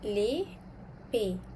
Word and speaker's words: les pays: Okay, country dalam bahasa Perancis kita sebut les pays. Okey, kena ingat S adalah silent letter. Kita tak bunyikan huruf S tu.